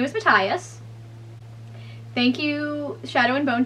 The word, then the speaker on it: Matthias: i was saying matthias his name is not mathias his name is his name is matthias thank you shadow and bone tv show for